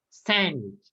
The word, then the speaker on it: sandwich: sandwich sandwich sandwich sandwich remember yeah with the shoot okay no shoe it's chew okay sandwich uh-huh sandwich